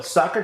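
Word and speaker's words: Sacher: I got to go get my soccer tour.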